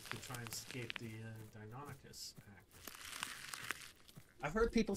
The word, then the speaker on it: Deinonychus: And Deinonychus is how it's pronounced.